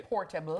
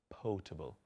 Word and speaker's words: potable: No, I'm just saying sometimes you people say portable. Portable. You get it in a script and it says portable, but it's potable. Spell it, please. Potable. The R isn't missing.